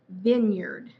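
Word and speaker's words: vineyard: Capboard cupd carburd bird ok အတူတူသေကြမယ်နော်။အဲ့ဒါကျွန်မပြောရခက်တယ်။ပြောခံတယ်။အာ အာ The one ism stick steak steak ok steak ဖြစ်ပါတယ် the last one is vine yard vinard vinard ok vinard say right ok အားလုံးကျေးဇူးတင်ပါတယ်ကျွန်မတို့နောက်ထပ်အပိုင်းတွေမှာပြန်တွေ့ကြမယ်နော်ဒါအပိုင်း tip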